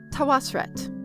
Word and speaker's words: Tawosret: But I like Tawosret. Tawosret. So that's what we're doing.